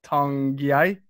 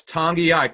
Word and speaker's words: Tongiai: They've been impressed with the rookie free agent that they signed, Noah Tongiai. Did I pronounce that correctly? It's Tongiai, correct.